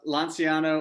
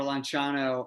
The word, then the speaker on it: Lanciano: yep yep so uh lonziano or lonciano uh is how the italians pronounce it was the like is